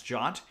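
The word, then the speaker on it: JWT: rest framework jot or JW teens pronounce jot you can use that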